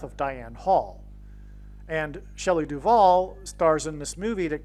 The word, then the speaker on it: Duvall: And so Shelley Duvall, her name rhymes with Hall, and Paul Simon and Shelley Duvall met on the movie set of Annie Hall.